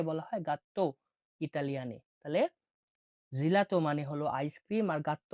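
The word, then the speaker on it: gelato: জি বা গি হিসেবে জি বা গি হিসেবে উচ্চারণ হয়ে থাকে জি এর উদাহরণটা দেখুন জেলাতো জেলাতো বা গাত জেলাতো বা গাত তাহলে জেলাতো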